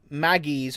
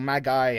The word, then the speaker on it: Magi: But the initial plot, the basic plot is like they are Magis or Magi, however you want to pronounce it. I say Magi, which is kind of like magician, whatever, right?